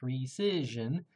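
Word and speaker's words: rescission: will order a recision which is pronounced recision or undoing of the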